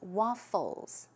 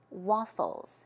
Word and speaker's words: waffles: a waffle is but usually I think in Korean pronunciation we tend to pronounce it with a P WAP Push right but